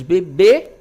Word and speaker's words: bebê: Então, em bebê, a sílaba tônica, né, é a última.